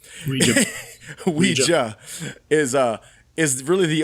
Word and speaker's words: Ouija: new story kind of the weija sorry it's pronounced Ouija Ouija is uh is really